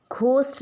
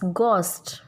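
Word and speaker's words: ghost: गोस्ट, हम इसको घोस्ट बोलते हैं, घोस्ट नहीं होता, इट्स गोस्ट। एच की साउंड साइलेंट होगी।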